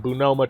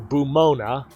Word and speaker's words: Bumona: basic med kit, some Bunoma trauma kits, or Bumona, I don't know why I always pronounce it Bunoma, and a bunch of new yen.